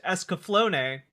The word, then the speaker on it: Escaflowne: Okay, I've just been informed that Escaflowne is actually pronounced Escaflowne, which is fine.